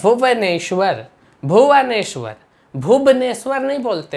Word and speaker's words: भुवनेश्वर: अब हम लोग यहाँ पे है भुवनेश्वर। भुवनेश्वर, भुवनेश्वर नहीं बोलते हैं, भुवनेश्वर बोलते हैं, भुवनेश्वर। तो देख रहे हैं वाह को हम वाह जैसा ही उच्चारण कर रहे हैं, बा जैसा नहीं कर रहे हैं।